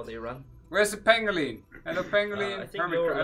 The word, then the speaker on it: Pangolin: buttons but see even the chat is telling you how to say it's Pangolin come on Pang Pangolin yes